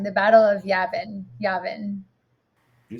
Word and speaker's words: Yavin: going to say this wrong the battle of yavin yavin you said it right yavin yavin what is the importance of that keith